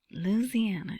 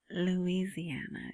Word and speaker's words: Louisiana: Louisiana, isn't that how they say it? Louisiana is how someone from California might say it. Louisiana. But I think people in Louisiana say it that way.